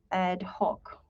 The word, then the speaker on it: ad hoc: so this is sorry this is ad hoc add dash hawk and adhoc committee has